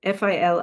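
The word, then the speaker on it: filí: known as the fil f i l i I used to pronounce it phy but I believe it's fil and they are sear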